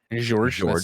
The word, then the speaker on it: George: George. That soft G.